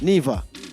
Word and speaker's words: Niva: We have, the pronunciation of the last name is NIVA. NIVA. I don't want to say Nivo or Niv something and it spoil the name and you walk out.